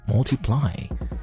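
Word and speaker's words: ×: Now, Photograph was the fifth single from Ed Sheeran's breakout 2014 album X, pronounced Multiply.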